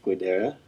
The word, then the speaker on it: Guidera: on 20th and P, with local heroes Vinny Guidera. Well, I'm probably butchering his name. Sorry. Is that how you say it? Yeah. You should know Gadara.